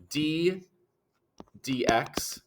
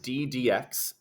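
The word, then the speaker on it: d/dx: this is the command the command this is pronounced d dx it's just pronounced d dx d dx is um means that command ddx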